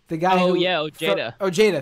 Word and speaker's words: Ojeda: Ojeda, thank you. The guy from West Virginia who already dropped out. Also, Avenetti already dropped out, but this was her tweet. Ojeda and Avenetti as candidates are like the guy